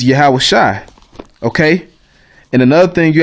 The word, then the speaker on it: Yahawahshi: read in the Tanakh, it might say Yahawah Yahawah. That's wrong too. That's the wrong pronunciation. Okay, you would take this Y out, and actually it's just Yahawahshi.